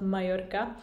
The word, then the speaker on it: Mallorca: So Mallorca, I should say, because double L is pronounced in Spanish as y, so it's not Mallorca but Mallorca, and I should know because I study and learn Spanish, as you probably know.